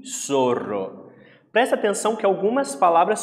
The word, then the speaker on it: zorro: E 6, olha aqui, ó, outra palavra curiosa, zorro. E a pronúncia é so mesmo, é zo, é so. Como se fosse pronunciar com som de S, zorro.